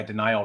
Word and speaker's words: Denial: Yeah, Denial Records, which is spelled like D-I and then like nihilism, Denial.